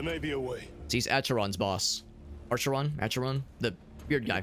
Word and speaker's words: Acheron: Acheron, that's how you pronounce it.